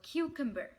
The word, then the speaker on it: cucumber: الكلمة دي نطقها مش سهل قوي، هو cucumber cucumber cucumber. قسم نطقها على 3 مراحل. q cum ber q cum ber cucumber.